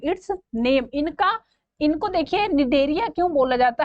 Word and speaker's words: Cnidaria: give D phylum it's नाम इनका इनको देखिए निदरिया क्यों बोला जाता है इन्हीं नेडा साइड सेल्स